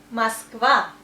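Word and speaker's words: Москва: The name of the capital of Russia is Moskva. You see, that's O, but we also say A because of stress here. Moskva.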